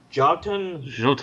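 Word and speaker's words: Jötun: Jotun. Jotun, I believe. Jotun. It's Norse. It's, Jotunheim. All right. It's spelled with a J and an O with an umlaut over it.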